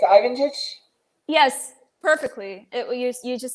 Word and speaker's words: Lvancic: I hope I haven't butchered your last name too badly. It's Lvancic?